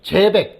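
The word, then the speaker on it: Seebeck: 그래서 요게 읽을 때 누 시백이라고 읽지 말고 이게 독일어인가 봐요. 독일적이니까 이게 제어백, 재백 또는 뭐 제어백 또는 재백 이렇게 하게도 돼요. 이렇게 읽으면 될 거 같아요.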